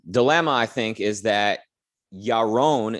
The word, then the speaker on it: Yaron: i think is that yaron is how his name should be pronounced but i i sense that over the years of him living in the u.s people would keep calling him euron iran until he he finally went along with that but now that he's